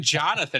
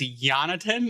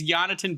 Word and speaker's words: Jonatan: And it's not even Jonathan; it's Jonatan. It's there's no. So it's Jonatan Berggren, or as they have fallen on, Yanni Burgers.